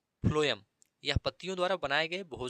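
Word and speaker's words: phloem: इसमें मुख्य बात यह है कि 'P' का अर्थ फ्लोएम और 'F' का अर्थ भोजन है ( फ्लोएम में इसका उच्चारण 'Ph' की तरह होता है)।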